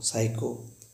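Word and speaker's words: psycho: जब कभी N और S के पहले P आए तो P को साइलेंट पढ़ते हैं। कब N और S से पहले P आए तो P को साइलेंट पढ़ते हैं। जैसे आपने सुना हो साइको, PSOICHO, साइको।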